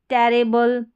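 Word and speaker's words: terrible: ये है टेरेबल, टेरिबल या टेरेबल, दोनों तरीके से प्रोनाउंस कर सकते हैं।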